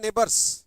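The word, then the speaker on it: neighbours: करने वाला जैसे बिलजरेंट नेबर्स कैसे पड़ोसी बिलजरेंट नेबर्स नेबर नहीं पढ़ते नेबर नाई नहीं है यह ने है जी एस साइलेंट होता है नेबर और ओ साइलेंट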